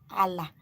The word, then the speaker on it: Ala: And Nodo is spelled N-E-O-D-U. Then you give space. Allah.